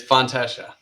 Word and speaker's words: Fontechia: It's Fontechia.